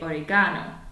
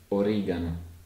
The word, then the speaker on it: oregano: And you have to be a bit careful if you're a native English speaker, particularly in the UK, because we say oregano, whereas in Italian it's pronounced as oregano. And you can hear the hard G sound.